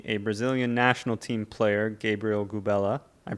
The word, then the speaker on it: Gabriel Gubela: I've got a very special guest with me, a Brazilian national team player, Gabriel Gubela. I pronounced it right?